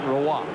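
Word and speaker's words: Roy: He is a French Canadian, but is pronounced Roa, like it's R O I.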